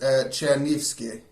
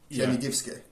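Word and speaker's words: Чернігівське: It's pronounced Chernigivske. Chernigivske. Which is very Ukrainian.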